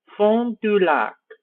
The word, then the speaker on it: Fond du Lac: Or, actually this is kind of French, so I'll pronounce it in a French way. Fond du Lac.